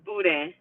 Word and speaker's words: boudin: know well oh and the way to pronounce the word that we were talking about now I say Emma was a Wednesday too is Buddha so the boudin Buddha has um pork